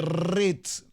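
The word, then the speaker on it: reeds: o la palabra eh se se dice rit doble e rit r e e d s cañas cañas en inglés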